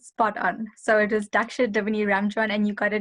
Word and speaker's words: Daksha: having me today um no you actually pronounced pronounced it spot on so it was daksha davini ramjon and you got it 100 correct